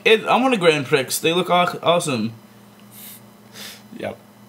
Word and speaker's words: Grand Prix: it I want two grand prix they look hot awesome yep and my mom was like it's Grand Prix and I'm like there's an X though and she's like you don't pronounce the X but i might get